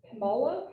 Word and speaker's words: Kamala: I was saying it, I can't even say it, Kamala.